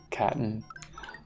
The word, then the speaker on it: Katoon: Pronounce Katoon like kitten. Catten.